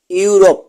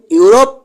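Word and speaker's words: Europe: শব্দের শুরুতে ইউ থাকলে ই এর উচ্চারণ হবে না। যেমন ইউ আর ও পি ইউরোপ।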